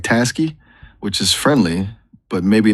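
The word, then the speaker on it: Taski: If you're looking at task, I like t a s k i. It sounds like tasky, which is friendly, but maybe not as CEO as you want.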